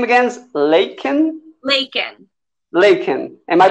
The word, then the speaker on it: Lakin: better yeah that's great and your name against laken laken lincoln am i pronouncing it right laken yes you are good and so um i